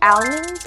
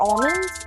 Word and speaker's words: almonds: I think that's how you pronounce them because you might say almonds or almonds, but I usually say almonds.